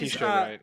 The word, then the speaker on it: Letitia Wright: Whoever plays Letitia Wright, yeah.